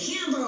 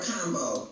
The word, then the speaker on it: Kambo: Is it Kambo or Combo? All right, so I would say it's Kambo, because other countries, they don't really pronounce A's with the long A. It's like Kambo.